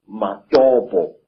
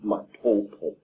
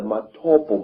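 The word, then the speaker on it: Matobo: And one of these parts of Africa, sir, is a remarkable place called the Mountains of the Round Rocks, Matopo, wrongly pronounced Matopo, in Zimbabwe.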